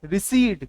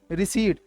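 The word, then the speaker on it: recede: ये है रिसीड, क्या बोलेंगे, रिसीड। कुछ लोग प्रोनाउंसिएशन में गड़बड़ कर जाते हैं, वो बोलते हैं रेसिड, नहीं, रिसीड बोलना है आपको।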